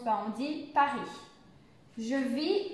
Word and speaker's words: Paris: ne se prononce pas pour la prononciation vous ne prononcez pas ici le s le s final de se prononcent par andy paris je vis à paris